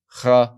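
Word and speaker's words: ך: is the final consonant kaf, and so I will pronounce this accordingly as a kha or sometimes as a ka, depending on if there's a dot or if there's no dot.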